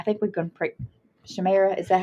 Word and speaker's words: Shimei: Shemira, is that how we decide we're going to pronounce it? Shimei. Shimei. We're going to pronounce it Shimei.